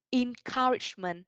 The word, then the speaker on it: encouragement: Sự động viên khích lệ hoặc là lời động viên khích lệ mình có encouragement. Okay, encouragement. Can all of you guys help me to pronounce this again?